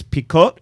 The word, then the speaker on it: picot: you have uh like in French it's picot it's p i c o TT okay like pico kind of uhhuh well Pico